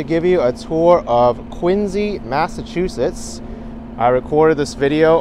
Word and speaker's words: Quincy: it out it's actually my first time here Quincy I mean quiny it's actually pronounced quiny for some reason even though the